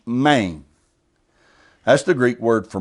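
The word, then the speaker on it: μήν: The suffix is the word main, spelled M-E-N, but pronounced main.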